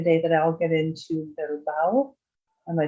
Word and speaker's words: Bilbao: The shortest is 10.8 kilometers, and that is actually the day that I'll get into Bilbao. Am I saying it right? I think so. Bilbao, yes.